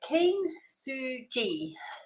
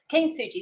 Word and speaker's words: Kintsugi: Um but yeah Ken Suji. Keen Suji.